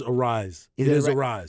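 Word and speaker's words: Arraez: uh most recent game is it Louis Aries how do you pronounce it is it a rice it is a rise it is a rise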